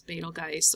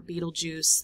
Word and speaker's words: Betelgeuse: So if you go from this bright star right here over to Procyon, this is Betelgeuse or Betelgeuse. There's lots of different ways to pronounce it.